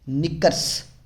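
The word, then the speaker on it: knickers: Headphones, निकर्स के silent है।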